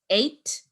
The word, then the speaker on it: eight: Earlier on in the term, we did cover this spelling rule where you see E-I-G-H and you pronounce it as A. So it's eight and eighth.